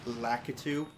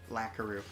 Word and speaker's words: Lakitu: Like, when I was a kid, Lakitu, or Lakitu, for some reason my brain thought there was an R in there. Lakaru.